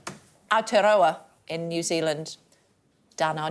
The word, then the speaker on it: Aotearoa: that covers the length of, how do I pronounce it? Aotearoa in New Zealand.